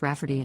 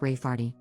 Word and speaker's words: Rayfarty: sister wanting to name my niece Rayfarty, pronounced Rafferty, not at all like Rayfarty.